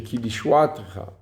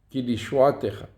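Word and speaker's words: כי לישועתך: Et là, l'accent tonique n'est pas sur le tav, parce que le tav, il y a un shva. Et il n'y a jamais d'accent tonique au niveau d'une lettre voyellée d'un shva. Donc c'est kilishuatecha, kilishuatecha.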